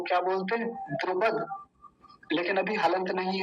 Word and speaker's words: द्रुपद: द्रुपद नहीं है ये, द्रुपद, क्योंकि हलंत नहीं है। अगर हलंत लगा होता तो क्या बोलते? द्रुपद।